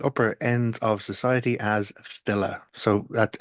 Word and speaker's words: file: Yes, there were actually specific laws about bars or poets who were known at the upper ends of society as filler.